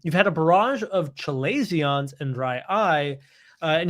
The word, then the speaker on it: chalazion: for you um you've had a barrage of chilesions and dry eye uh and you've never experienced them before so uh something if you've never heard of chalazions before or some people pronounce them calasions these are a blockage of oil producing glands